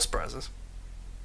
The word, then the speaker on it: surprise: It's that first R. Surprise. You say it like you normally would, throw it out in a conversation, and that R is not there.